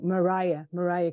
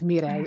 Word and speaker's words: Mireille: Most of the time they pronounce it like Mariah Carey. But it's Mireille. It's a French name, but Mariah sounds amazing.